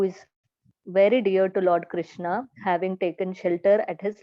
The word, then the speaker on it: Krishna: The word Hare, pronounced Hare, Krishna, pronounced Krishna, and Rama rhymes with Rama as are Sanskrit words.